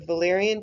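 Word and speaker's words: Wallerian: is the concept of Valyrian degeneration yes the W is pronounced like a V hi dr. Kotov KO TI w same thing anyways Valerians degeneration trans section of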